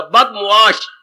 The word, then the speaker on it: बदमुआश: बदमाश शब्द नहीं होता, बदमुआश, बद मैंने बुरा, मुआश मैंने व्यवहार, जिसका व्यवहार बुरा हो, जिसका आचरण बुरा, बदमाश शब्द बोलती है पर ये उच्चारण गलत है।